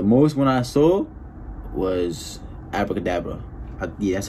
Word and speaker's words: Abra Cadabra: His name is like the magic trick, like Abra Cadabra, like with the magicians be saying that shit.